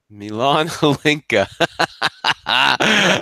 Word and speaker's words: Milan Hlinka: be thinking of, and I'm gonna get the name wrong. But Milan Hlinka. Milan Hlinka.